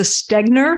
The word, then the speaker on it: Stegner: I want to go not so like I butchered it'd be great yes my name is stegner stegner that's t-e-g-n-e-r and the assessor for the